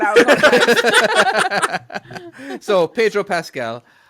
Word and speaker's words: Pedro Pascal: So Pedro Pascal, correct?